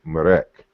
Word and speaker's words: ma'at: The word ma'at should really be pronounced something like marek.